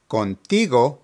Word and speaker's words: contigo: Finally, contigo means with you and is pronounced contigo, contigo.